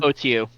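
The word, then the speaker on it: Otyugh: I pushed my way through the crowd up to the Otiug, or how did you pronounce it, Justin? OTU.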